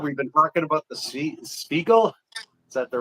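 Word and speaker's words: Stiegl: We've been talking about the Sheagle. Is that the right pronunciation there? Sheagle.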